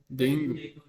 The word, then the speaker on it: dengue: Ah, they call it dengue. Dengue. Ah, Dengue. dengue. Dengue. Like dengue. Dengue. Dengue. G. Not K, like a G.